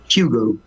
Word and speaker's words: Hugo: think English pronounce it Hugo oh Hugo with an H in like it start with an H yeah it starts with an H but in French it's mute so just say U but yeah can you